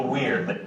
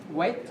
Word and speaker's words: weird: Đừng đọc là wait. Cái này là tách hai âm nhé. We, đúng không? Nó xoa âm số 2. Weird.